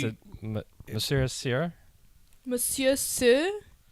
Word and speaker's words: Monsieur Soeur: But I pronounce it Monsieur Soeur.